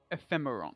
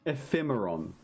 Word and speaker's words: Ephemeron: Ephemeron. Ephemeron. There we go. Thank you. That's definitely how you say it. It's based on. It's like ephemeral, as in quickly disappearing, like ephemeral, like a soap bubble.